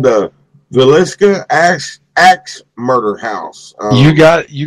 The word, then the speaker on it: Villisca: it's kind of funky I hope I can pronounce it right it's called the Villisca ax ax Murder House you got you got